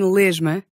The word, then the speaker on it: lesma: The letter S can also sound like the voiced zh at the end of a syllable when the consonant afterwards is also voiced. As in lesma.